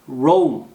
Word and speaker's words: Rome: 그리고 로마가 아니라 Rome. 오우 사운드 납니다. Rome이라고 발음이 된다는 거.